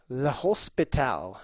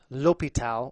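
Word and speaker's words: L'Hôpital: our new stuff though Hospital which is not correct Lal or Lal they're pronounced the same way um the new French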